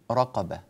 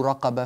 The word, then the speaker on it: رقبة: الراء المضمومة هنا مرققة، الراء المضمومة هنا مرققة، الراء التي بعدها في كلمة رقبة مفخمة، بعض الناس لا يكون عنده الليونة والسرعة في تعديل وضع لسانه لينطق مباشرة بالحرف على نسقه الصحيح، فيأتي براء مرققة ثم راء مفخمة فيقول تحرير رقبة فيفخم الرأين أو تحرير رقبة فيرقق الرأين، وهذا غير صحيح، أو تحرير رو هذه